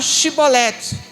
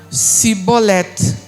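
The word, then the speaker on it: שיבולת: faziam esse teste fala shibolet que é o hebraico shibolet que quer dizer espiga apenas isso eles não conseguiam pronunciar o x e falavam sibolete ou seja esse cbol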